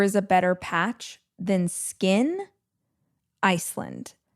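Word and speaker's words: Skyn Iceland: And I don't think there is a better patch than Skin Iceland. That is spelled S K Y N.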